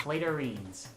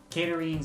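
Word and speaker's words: catarrhines: He says Clatorines. Mr. Mikey Insanity, what is the correct answer? Hi, Cat. Hi, cat is not a valid answer. Caterines is what they're called. So we are... Monkey mispronounced it, so he doesn't get the point either.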